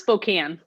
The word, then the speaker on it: Spokane: Yeah, it's pronounced Spokane.